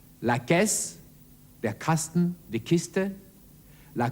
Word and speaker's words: caisse: Aber vor einem A, einem O oder einem U wird der Buchstabe C wie ein K ausgesprochen. La caisse, der Kasten, die Kiste,